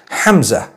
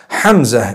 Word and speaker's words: Hamza: lot of people would pal is the proper pronunciation hamza hamza is the proper pronunciation hamza it starts with